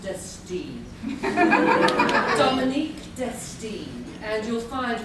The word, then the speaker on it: Destine: It's pronounced Destine.